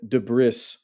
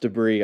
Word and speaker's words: debris: The beach is usually beautiful, but is now covered with shipwreckage and debris. I know it's pronounced debris. I'm just gonna announce this here. I always say debris, so roll with me.